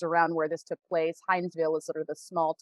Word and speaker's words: Hinesville: stewart georgia is around where this took place hinesville is sort of the small town that is adjacent to that army base uh hansville if you're from there that's how you pronounce it uh but anyway so so that's